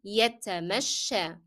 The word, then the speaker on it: يتمشى: And notice that the last ya, the ending ya of this word is pronounced as alif, and that's because of the fatha appearing on the previous letter sheen.